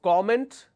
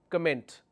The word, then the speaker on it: comment: typing all right now there are two pronunciation for this one is comment the other one is comment one is comment and one is comment what is the difference so please don't mix it up all right when I say comment it's a noun when I say comment it's a verb could you please comment how